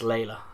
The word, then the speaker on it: Leyla: That is pronounced Layla, although it's spelled Leyla, so I want to pronounce it as Leela.